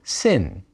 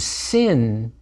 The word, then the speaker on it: sin: letter is sh and sin with a DOT at the upper left is an S sound nowadays it's pronounced just like a s early in the history